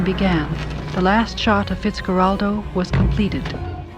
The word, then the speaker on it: Fitzcarraldo: Herzog won Best Director at the Cannes Film Festival in 1982 for a film called Fitzcarraldo, that's how you pronounce it.